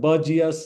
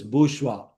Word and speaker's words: bourgeois: Second one, it is not bourgeois, it is bourgeois.